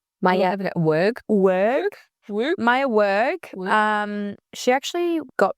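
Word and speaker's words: Weug: Maya Weig. It's W-E-U-G, Weig. If you can't pronounce that, I know. the queen of pronunciation. Maya Werg.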